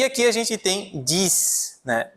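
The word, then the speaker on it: dix: E aqui a gente tem dis, né? Diz, que é o número 10, tá? Diz. Eu vou pronunciar o X no final.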